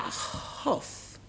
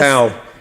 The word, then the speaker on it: Howe: And also, is that Hoff? I don't mind. Huff. Tell us. How?